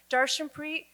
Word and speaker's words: Darshanpreet: Darshanpreet, 12 letters, 3 syllables.